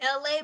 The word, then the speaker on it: Elay: It's me, LA, pronounced like LA, like the city.